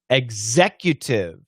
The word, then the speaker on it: executive: Shane, I have trouble pronouncing executive. Execu. Yeah, it's just the Q. Q. Executive.